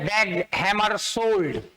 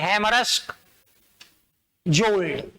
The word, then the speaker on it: Dag Hammarskjöld: क्या लिखते रहते हैं, तो इसको बोला यही जाता है, डैग हैमरशोल्ड। अब अच्छी अच्छी मैगजीन में जिनकी अच्छी रेपुटेशन है वो ऐसे दे रहे हैं, हैमरस्क जोल्ड। नहीं पढ़ा जाता है, गलत परंपरा।